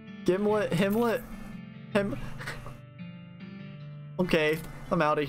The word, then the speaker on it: Gimlet: According to the manufacturer, it rhymes with Himlet. Gimlet, Himlet, Okay, I'm out of here, bye.